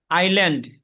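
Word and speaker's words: island: ভিন্ন কোন কারণ নেই এস উচ্চারণ না করা এখানে আইল্যান্ড দ্বীপ ওয়াশান মহাসাগর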